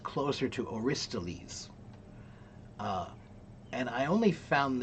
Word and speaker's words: Aristotle: uh, I only recently found out that the pronunciation of Aristotle in English is actually really, really terrible. Um, it should be pronounced closer to Aristoles.